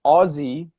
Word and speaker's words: Aussie: But yeah, Americans will often say this is weird too because Aussie, because the first syllable is now emphasized, we do say the vowel sound oh, Aussie, Yes.